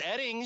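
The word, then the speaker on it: Oetting: It's pronounced Edding. But it's spelled O-E-T-T-I-N-G. Yes, and O-E-T-T-I-N-G. It's pronounced Edding. Okay, so it's like the O is silent, O-E-T-T-I-N-G is Edding. Got it. Take two. Mark Edding of Edding Insurance Agency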